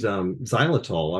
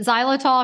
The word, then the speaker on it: xylitol: Kate, you mentioned xylitol.